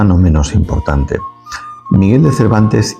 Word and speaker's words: Cervantes: Saavedra su propio apellido el dialecto andaluz en su variante cordobesa se caracteriza por la utilización del ceseo es decir pronunciar la s la z y la c como una s Cómo pronunciaría una persona con marcado acento cordobés su apellido Cervantes lo haría como Cervantes Dado que los escribanos